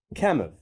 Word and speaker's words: Kamuf: If they had titles, one might be Peggy, the other, I carefully pronounced, Kamuf.